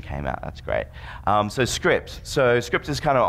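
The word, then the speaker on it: Cycript: a ridiculous name because it's pronounced script it's not written like that at least in my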